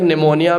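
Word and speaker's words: pneumonia: Sometimes in particular words, just like निमोनिया में P गायब है, ऑलराइट, वैसे उन लोग के लिए वो विक्टोरिया में C उन लोग इग्नोर करते हैं, ऑलराइट, इन द प्रोनाउंसिएशन।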